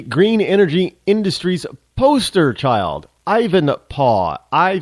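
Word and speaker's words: Ivanpah: p a Ivan paw you know how they used to say Dad back in the in the in the 1800s paw anybody watch Little House in the prairie was Charles Les they Al said paw they didn't call him dad or daddy it was PAW so Ivan paw uh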